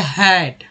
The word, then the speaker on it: hate: अब मान लीजिए लिख रहे हैं इसमें HATE, तो यही ए जो है बन गया हमारा ए के रूप में उच्चारण हुआ हेट।